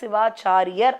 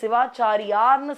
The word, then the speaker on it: சிவாச்சாரியர்: அப்படிப்பட்ட ஒரு அற்புதமான காவியத்தைதான் மகாஸ்க்காந்தம் என்பதை கந்தபுராணமாக கட்சியப்ப சிவாச்சாரியர் அப்படின்னு சொல்லணும். நிறைய பேர் சிவாச்சாரியார்ன்னு சொல்றாங்க. அதற்கான சரியான ஒரு எப்படி உச்சரிப்பு என்றால் கட்சியப்ப சிவாச்சாரியர் அப்படின்னு சொல்லணும்.